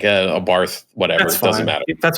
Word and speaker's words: Abarth: specifically with the the abarth did i say it right i've been corrected 80 different times it's ab art the h does not exist bob art um but i think in